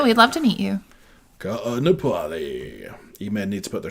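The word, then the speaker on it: Kāʻanapali: Ka'anapali.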